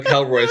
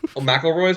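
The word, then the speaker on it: McElroy: on and fight the melroy I'm GNA be sitting over here you don't even pronounce their name right meloy meloy sorry M Roy whatever we're coming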